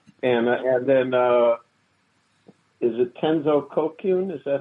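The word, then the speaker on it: Tenzo Kyōkun: And so I went on to do Bendowa, and and then is it Tenzo Kokyun?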